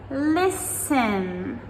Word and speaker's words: listen: Listen, L-I-S-T-E-N. Listen, not listen.